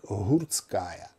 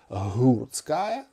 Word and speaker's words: Гурткая: відоме знову ж таки мигрейське прізвище як гурткая гурткая мусимо писати і вимовляти через фрикативну українську г але решта прізвищ типу